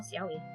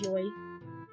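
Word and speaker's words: yowie: more than likely now Yi unfort I can't believe it I was so mad when I found out that's how it's pronounce I was always I always thought it was Joy I don't know why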